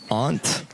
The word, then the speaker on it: aunt: hi I'm that's why I pronounced it the correct way aunt that's the correct pronunciation so you don't have